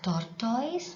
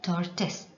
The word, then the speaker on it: tortoise: Many tend to pronounce it as tortoise, but that's wrong pronunciation. You have to pronounce it as tortoise.